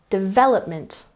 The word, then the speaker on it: development: Next, development. Emphasize the second syllable.